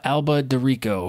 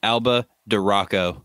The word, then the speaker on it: Alba de Rocco: number three was Angela Alba de Rico from the Austin facial hair club it's actually pronounced Alba de Rocco oh sorry it's like the Sirocco the Rio but but Rocco Oh like modern life